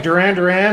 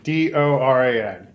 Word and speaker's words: Doran: All right, so it's just like Doran, except there's only one of me, Doran.